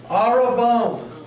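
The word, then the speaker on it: ἀρραβών: one there's the word Arab bone Arab bone the emphasis of of the uh Accent on the last syllable the third syllable let's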